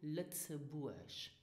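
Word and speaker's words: Lëtzebuerg: And pronounce our country Lützeburg.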